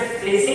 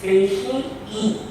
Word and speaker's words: facie: ना प्राइमा है FACIE, कुछ लोग इसे फेसी कहते हैं, कुछ फेसाई कहते हैं, लेकिन इसका जो करेक्ट प्रोनाउंसिएशन है इट इज फेशी ई। मतलब यहाँ पर आई के बाद भी ई है, लैटिन है, तो वो भी आई पढ़ा जाएगा।